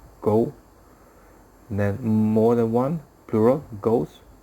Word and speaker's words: gho: so questions where are ghosts from ghost gho supposed to be pronounced go more than one plural